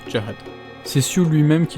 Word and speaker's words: Zahard: hard avec un z même si ça se prononce carey c'est sur lui même qui l'a confirmé dans